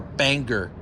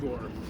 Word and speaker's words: Bangor: That's like you guys calling Bangor Bangor. Yeah, Bangor, Maine. Do you see what I got to It's put up with? Bangor.